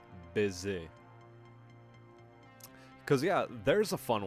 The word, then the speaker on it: baiser: On va se baisser sous les étoiles. Or sous le ciel étoilé. On va se baisser. Or, it's actually supposed to be pronounced baiser.